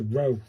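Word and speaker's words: ろ: This is the symbol, pronounced like the R-O in road. So it's a row, innit?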